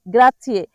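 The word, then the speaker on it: grazie: গ্রাচিয়ে। সঠিকভাবে উচ্চারণ করবেন।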